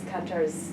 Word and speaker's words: Kantor: Korkowska, who's Kantor's daughter, Right. says it, I will approximate as close as I can. She says Tadeusz Kantor.